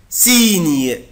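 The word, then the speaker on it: signe: زي مثلا الكلمه دي، بص كده، مونتاني مونتاني مونتاني ني مونتاني مونتاني مونتاني، اللي هو الجبل، زي كلمة سيني سيني سيني سيني سيني سيني، إشارة أو علامة،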